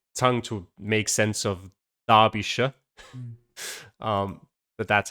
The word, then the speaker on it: Derbyshire: I also just looked up as well because I was pretty sure like Shire is pronounced like not Shire. I just couldn't really get my tongue to make sense of Derbyshire.